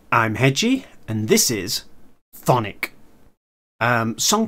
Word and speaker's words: Chthonic: CHTHONIC, I knew I'd say it wrong eventually. Thonic, it's not CHTHONIC.